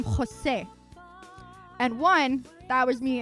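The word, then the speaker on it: José: But the actual name has a jota, which has a more glottal sound that is very similar to like Scottish. It has a ho to it, and so it's Jose, not Jose, like with an H. And it's not Jose, it's Jose. The accent on the E and the E sound in Spanish itself is much shorter, Jose.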